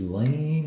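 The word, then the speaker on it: Lannes: And that's probably not how you pronounce it. It's Lan or something like that. French with their names.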